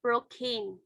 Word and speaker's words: Procne: I guess it's I don't know how to pronounce, but I think it is Procne. Procne. So number 4 is pronounced as Prokin.